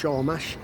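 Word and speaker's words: Sormaš: We've stopped at Sormash, S-O-R-M-A-S, pronounced Sormash, near Nash Kanisa.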